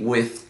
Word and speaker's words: with: Which, which. Mas, na verdade, a pronúncia seria with.